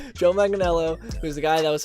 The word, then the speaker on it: Joe Manganiello: batman movie because recently um joe manganiello i pronounced it right joe manganiello who's the guy that was supposed that played